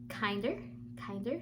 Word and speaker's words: KNDR: This is the Kinder, that's how you say it, KNDR Beauty Overnight Lip Mask, and the retail price for this one is $20.